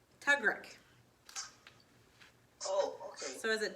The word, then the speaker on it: tugrik: Sorry, and Tugrog is actually pronounced Tugrik.